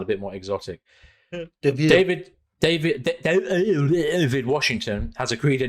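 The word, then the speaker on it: Deivid: Chessie for David Washington David David I mean it's a David that's spelled d-e-i-v-i-d which might be no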